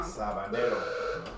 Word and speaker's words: Sabanero: What am I saying wrong? Sabanero. So no R.